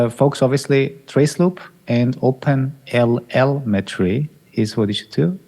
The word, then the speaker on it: OpenLLMetry: I say open lmetry. I'm Yeah, you hear the M cuz it sounds like open telemetry, but open telemetry.